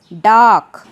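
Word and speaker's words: dark: Third word is डार्क। डार्क मतलब अंधेरा। डार्क word में भी R साइलेंट होता है।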